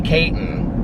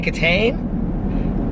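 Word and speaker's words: Kitaen: so sad about uh she mispronounced her name she said tawny tawny kayton and i go tawny caton i said tony katane i said what about tawny katane i said tony katane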